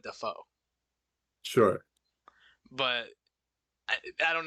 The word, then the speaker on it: Dafoe: was younger okay and he pronounced his name dafo Am daffo Willem daffo okay instead of Defoe sure but I I